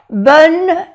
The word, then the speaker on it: bonne: On, O-N, on, une bonne note. No se pronuncia la E ni aquí tampoco. Bonne note.